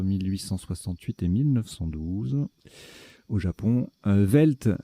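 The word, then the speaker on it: veld: Velt, donc ça s'écrit V-E-L-D ou V-E-L-D-T.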